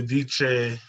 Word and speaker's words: dice: Oh, because that's how that's pronounced in Italian. So I was wondering. Okay. Como se dice? Dice, like an S.